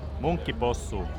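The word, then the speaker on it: munkkipossu: So Marty will explain you now how you really pronounce this. Monkey possu.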